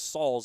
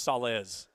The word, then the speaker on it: Salaz: Salaz, I believe, is how they went with it because I thought it was Sauls and it was Salaz, yes. Carly Salaz. Or Salez. It was Salez.